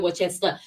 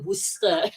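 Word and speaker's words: Worcester: Okay, so in UK I cannot pronounce royal wchester all the alphabets. Okay, it's called Royal Worster in UK.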